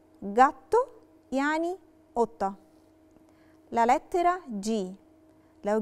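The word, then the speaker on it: gatto: عندنا لاليترا جي لو جي وراها لاليترا ا بننطقها جا وبننطقها جي دورا. ومثال عليها كلمة جاتو، جاتو يعني قطة.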